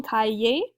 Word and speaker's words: cahier: And then un cahier is our word for notebook. I know pronunciation-wise it doesn't quite look the same. It's literally like saying kai and then ye. So, répétez un cahier.